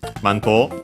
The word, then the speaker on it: マント: Uh it's accented on the first uh syllable m on the mass.